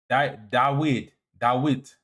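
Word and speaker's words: דוד: Dawita is literally the Hebrew pronunciation of David. Dawid.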